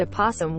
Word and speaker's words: opossum: a single animal called the opossum where the o is silent my mind is currently